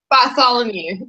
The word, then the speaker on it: Bartholomew: and how do you say your last name bolom you but no one gets it right yeah so